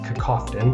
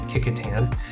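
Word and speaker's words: Kecoughtan: a couple blocks north so looks like it's pronounced cofton but it is Katan and down to chesap gab and that and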